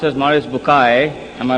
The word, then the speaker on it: Maurice Bucaille: and a scholar of Quran Dr moris buk pronounced as moris bukai am I right doctor matter okay uh he's